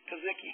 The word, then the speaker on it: Kosecki: with Botkins, Wilson, and Kosecki. How do you say it? Kazicki. I always get that name wrong.